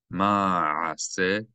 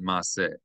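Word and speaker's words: מעשה: Ra'ah, chol, ha'am, asher, ato, vakir, be, vakir, be, vakir, be, as, ma, a'ase, three distinct syllables, ma, a'ase, ma'ase, and not ma'ase, ma'ase. That's simply wrong. It's indisputably wrong.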